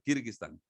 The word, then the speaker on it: Kirguistán: donde sacristán y a veces ni siquiera podemos pronunciarlo es complicado el nombre de kirguistán pueden decirlo conmigo dónde están algunos dicen que